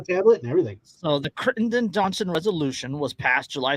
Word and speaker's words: Crittenden: andrew know about the critertin johnson resolution of 1861 pretty sure you're mispronouncing that um c-r-i-t-t-e-n-d-e-n oh crittenden crittenden don't google it come